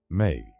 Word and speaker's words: me: The Sumerians believed that the gods had crafted a foundational set of cosmic decrees called me pronounced may.